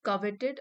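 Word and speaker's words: coveted: इसका प्रोनाउंसिएशन है कवेटेड, और ये है एक एडजेक्टिव जो कि जॉब को डिस्क्राइब कर रहा है।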